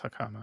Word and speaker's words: hakama: Jammin' Ninja's button was ripped from his costume, is covered in Corrida's blood, found in Onguard's hakama. How do you pronounce hakama?